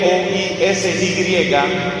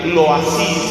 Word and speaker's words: Loisy: Otro sacerdote, se escribe L-O-I-S-Y, Loisy se pronuncia en francés, Loisy, uno de los grandes